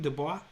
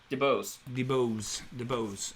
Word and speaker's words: DeBose: So yes, Ariana DeBois, Anita, West Side Story. Is that how you say her name? DeBois. DeBose.